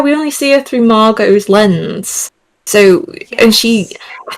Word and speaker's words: Margot: How the Margo Margot Margo? Um, how Okay, I'm going to look that up. How would you pronounce Margo? It is. Is it Margo? Yeah. Oh, yeah. Cuz like Margo Robbie, but I think Wow,